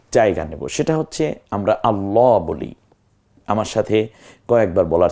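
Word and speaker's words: الله: আল্লাহ আগে বুঝতে হবে এটাকে কখনো পোর করতে হয় মানে মোটা করে যেমন আল্লাহ আমি বলছি আবার বিসমিল্লাহ এখানে বিসমিল্লাহ ওই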